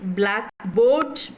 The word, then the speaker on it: blackboard: Blackboard, blackboard, yes, compound noun, this is a compound noun where the stress occurs on the first syllable.